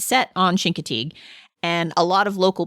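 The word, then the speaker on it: Chincoteague: So, when Kevin and I went to Shinkatig in I think I'm saying it wrong. I think they say Shinkatig, but I just can't do it because I've been saying it wrong my whole life.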